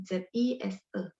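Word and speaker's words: 紫色: ZI SE. Zise. Kan tadi zi, berarti zi nada 1. Zi, zise. Nada 3, se-nya nada 4, SE.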